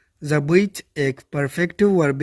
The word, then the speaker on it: забыть: ज़बीत एक perfective verb है, यानी मुकम्मल फ़ेल है, जिसकी मीनिंग है भूलना, टू फॉरगेट। और प्रोनाउंसिएशन कुछ इस तरह से होगी, ज़बीत, ज़बीत, ज़बीत।